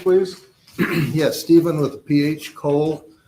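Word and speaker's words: Cohle: Sir, could you state your name and spell it for the records, please? Yes. Steven with ph Cole C O H L E.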